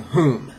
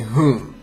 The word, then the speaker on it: hum: The last syllable is whom. Okay. So let's try again. Om Mani Padme Hum. Om Mani Padme Hum. Okay, so you're saying, it sounds like you're saying home, like where are you going?